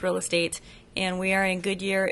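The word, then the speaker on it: Real AZtate: name yeah it's spelled real a-z-t-a-t-e commonly pronounced real a-z tate but it's pronounced real estate and we are in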